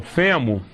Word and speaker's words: fêmur: Fêmur é interessante, porque tudo que se refere ao fêmur, a gente depois pronuncia com O. O fêmur é com U, mas a artéria femoral, o reto femoral, tudo isso é com O, tá?